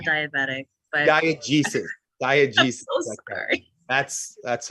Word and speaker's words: diegesis: it's not diabetic, but diegesis. Diegesis. I'm so sorry. That's all right. Just think the G for globe, and what is the diegesis with the globe in the middle there refer to? Diegesis is The narrative, because it's the right.